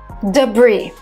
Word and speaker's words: debris: Debris. Debris. Silent S.